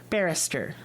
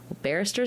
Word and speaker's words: barrister: was the other word Barrister barister sounds like banister and that's still confusing